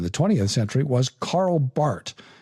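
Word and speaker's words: Barth: 20th century was Carl Bart b a r t h it's Bart I know it looks like bar but it's pronounced Bart and um he died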